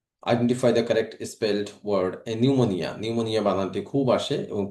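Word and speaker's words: pneumonia: নিউমোনিয়া, নিউমোনিয়া বানানটি খুব আসে এবং পি এর উচ্চারণ এখানে হয় না, পি সাইলেন্ট থাকে।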